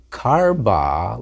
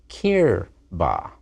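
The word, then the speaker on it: קִרְבָּהּ: Not karba, like Malka, her king, but kirba.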